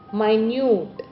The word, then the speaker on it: minute: The spelling is same but we pronounce it differently. Minute.